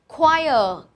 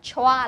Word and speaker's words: choir: Choir, cái này mình đọc là choir. Chú ý nhé, rất nhiều bạn sẽ nhầm đọc cái này là âm chờ, có thể đọc là choa, là choi gì đấy.